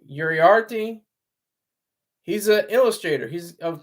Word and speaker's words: Uriarte: Uriarte.